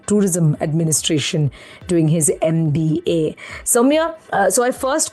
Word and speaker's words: Soumya: are a lot of people who cannot even pronounce my name, even if I tell them it's Soumya like 10 times.